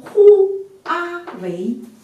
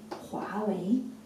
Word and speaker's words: 华为: 个拼音，不能拼成呼阿维，呼阿维不可以的，因为这是不了解汉语的发音，因为它只有两个汉字，就只能发成两个音节，呵乌阿华，乌 a 为华为，明白吗？